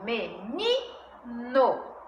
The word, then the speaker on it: menino: Paroxítona, onde a sílaba ni é a sílaba tônica. Menino.